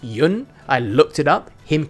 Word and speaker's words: Yeun: By the way, it is pronounced Yun.